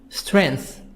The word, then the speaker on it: strength: piece of middle money strength g silent strength strength strength having a